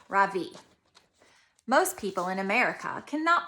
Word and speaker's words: Ravi: It is pronounced Ravi with a soft Ra and a strong V. In Sanskrit, it means the sun. In America, people call me Ravi with the stress on the first syllable.